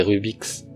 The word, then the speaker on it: Rubik's: C'est le fait que dans le Rubik, quand il y a un S à la fin, ça fait Rubik's.